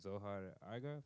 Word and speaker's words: Zohar Argov: So in the couple days I've been here, I've really gotten into this guy Zohar Argov.